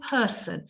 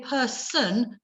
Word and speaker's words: person: The same with person. You know, we say person, not person.